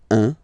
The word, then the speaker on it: un: All right, so when you combine this U and N, you get the nasal sound un.